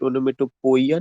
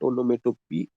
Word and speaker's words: onomatopoeia: Sometimes we pronounce it onomatopoeia, not poia, but onomatopoeia. Onomatopoeia.